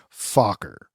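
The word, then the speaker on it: Focker: say your last name oh just like it's spelled f o c k e r fuer yeah and then so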